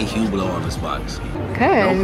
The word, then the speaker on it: Hublot: And it says Hublot on it. That's how you spell it. It says Hublot. Mm-hmm. You don't say the T.